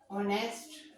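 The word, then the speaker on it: honest: जैसे कि एन, ऑनेस्ट, बॉय। अब आप वोट करेंगे, इसमें ऑनेस्ट में ये लेटर एच से शुरू हो रहा है, लेकिन इसका प्रोनाउंसिएशन ओ को शो कर रहा है, इसलिए इससे पहले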